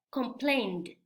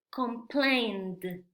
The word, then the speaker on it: complained: El último sonido es n. Entonces podemos ver que el sonido n sí tiene vibración. Entonces, este verbo en pasado se va a pronunciar complained, complained, complained.